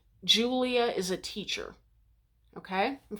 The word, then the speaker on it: Julia: So in classical Latin, it's Julia, and it's spelled with an I.